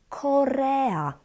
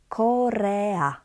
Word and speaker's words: Korea: Another word, Korea, Korea, ea.